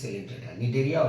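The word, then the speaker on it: Cnidaria: naria or centor not don't say coent C is silent here and this is Cinda Nara or Cinda here the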